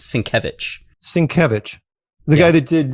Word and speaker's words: Sienkiewicz: It's spelled Sienkiewicz, but it's Polish, so it's pronounced Sienkiewicz.